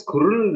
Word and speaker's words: squirrel: ඒක squirrel නෙවෙයි යා.